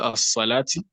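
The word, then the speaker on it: الصلاة: lam comes before sod, that lam is not pronounced, but the sod is immediately pronounced with the shadda. Do you get? So that thing that he has learned about as-salati, anytime he comes across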